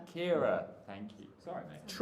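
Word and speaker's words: Ciara: Um, uh, uh, I've forgotten how to pronounce this name. C I A R A. Car. Kira.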